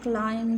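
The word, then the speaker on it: climb: The next sentence is आई कैन क्लाइम the wall. मैं दीवार पर चढ़ सकता हूँ. क्लाइम में याद रखें कि बी साइलेंट होता है.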